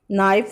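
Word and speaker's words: knife: नाइफ एन से की sound आ रही है, के इसमें साइलेंट है।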